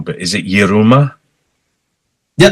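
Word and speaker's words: Yiruma: I'm really pleased I found you, because I was very addicted to, probably going to say their name wrong, but is it Yeruma? Yeah, Yeruma, yeah.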